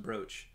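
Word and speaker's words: brooch: news now i know it's spelled bruce but pronounced broach the english language is a fickle mistress yes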